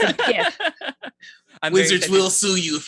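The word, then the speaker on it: Giff: longtime favorite, the GIF, which I believe is pronounced GIF, not Jeff. I think I've heard it both ways. I'm sure it's open to interpretation. It's not. It's not? Okay, gotcha. It's a GIF.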